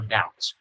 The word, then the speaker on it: doubt: Các bạn nhớ cho mình là cái từ doubt này là cái chữ B câm, cho nên các bạn phát âm như là cái từ out ra ngoài và từ chữ D vô, doubt.